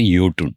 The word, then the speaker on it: Jotun: It's Jotun. But in Norway, it is pronounced as Jotun.